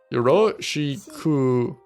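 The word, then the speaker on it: よろしく: Yeah, so Japanese pronunciation is Yoroshiku く o よろしくお願いします。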